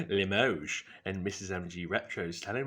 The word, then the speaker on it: Limoges: Apparently, it's not pronounced Limoges, it's pronounced Limoges.